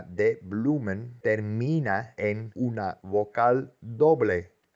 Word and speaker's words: bloemen: La primera sílaba de bloemen termina en una vocal doble, O-E, es U, bloemen.